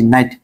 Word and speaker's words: night: ঠিক আছে, আমি বলতেছি, যদি শব্দের শেষে GHT থাকে তাহলে GH বাদ জাস্ট টি উচ্চারণ হবে। যেমন GHT আছে, তাহলে GH বাদ, তাহলে MIT মাইট। এখানেও GHT আছে, তাহলে GH বাদ, তাহলে BRIT ব্রাইট। এখানেও GHT আছে, তাহলে GH বাদ, তাহলে NIT নাইট।